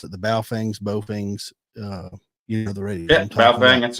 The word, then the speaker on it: Baofeng: Some of those things, like those, I'll probably mispronounce it. The Baofengs, the radio.